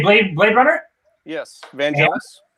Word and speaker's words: Vangelis: Yes, Vangelis. Actually, I think it's Vangelis. I've just like recently started correcting myself. But Either way. With 2 pronunciations, one of which is correct.